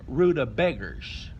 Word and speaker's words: rutabaga: And let's talk about the pronunciation of rutabaga. A lot of people call it rutabaga. In England and over there, they call it Swede, but Mama and Daddy called them rutabaggers. Rutabaggers.